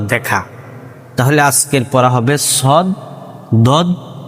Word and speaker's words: ص: যাতে এটা না হয় যে সদ আর সিনের উচ্চারণ যাতে এক না হয় সিন জবর সা সবার ছা হয়ে যায়।